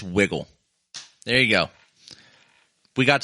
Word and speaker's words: Wigle: Uh, pronounce wiggle. It's wiggle. There you go. We got to the bottom of that. I like I I like it now. I know it's pronounced wiggle.